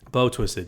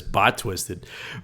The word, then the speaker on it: Bow Twisted: bow Twisted wasn't it bow Twisted yes I always read it as bot Twisted but bow Twisted no you you're you're your pronunciation is a lot better than mine um but bow twisted